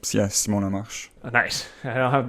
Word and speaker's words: Lamarche: How do you pronounce it properly? Oh, no, actually you did really well. No? It's, Simon Lamarche.